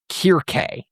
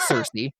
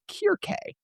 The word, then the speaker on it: Circe: may have learned to pronounce it Circe, based on its Uh-huh. modernized versions, the original ancient Greek and the Latin that would have followed is pronounced as Kirke.